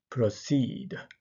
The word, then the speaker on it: proceed: も後ろが強い proceed proceed これも後ろにアクセントがあります強制があります